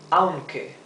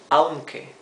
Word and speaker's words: aunque: Aunque means although. Aunque, two syllables.